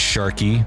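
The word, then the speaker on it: Shykey: here this is um this is shy spelled with a key at the end k e y I didn't make this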